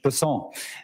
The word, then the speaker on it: Bessent: Bessent, I'm always going to pronounce your name as if it was in South Louisiana, and I'm going to pronounce it with a French Bessent as opposed to Bessent.